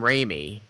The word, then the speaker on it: Raimi: I think the third one of the Rami, or is it Rami? The Rami part, because they're made by Sony. Sony owns the rights to Spider-Man. Oh, you mean Sam Raimi? Is that how you pronounce it?